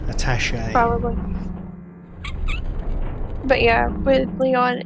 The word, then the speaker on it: attaché: Attache case is how we pronounce that. Attache case. Yeah. Yeah. American. We say attache. No, I don't know. Yeah. I've pronounced it attache my whole life. I believe it's a French word, attaché.